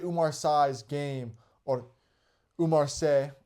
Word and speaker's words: Umar Sy: Umar Sy's game, or Umar Sy, as they were saying on the broadcast, probably how you actually pronounce it, was just to take